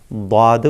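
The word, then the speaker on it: ضاد: ഒരു ഭാഗം, ഒരു സൈഡ് മൊത്തത്തിൽ നീണ്ടു കിടക്കുന്ന ആ ഭാഗം മുഴുവനായിക്കൊണ്ട് മേലെ അണപ്പല്ലിനോട് ചേർത്തുകൊണ്ടാണ് ദ്വാദ് ഉച്ചരിക്കേണ്ടത്. മേലെ അണപ്പല്ലിനോട് ചേർത്ത് വെച്ചുകൊണ്ട് ദ്വാദ് ഉച്ചരിക്കണം.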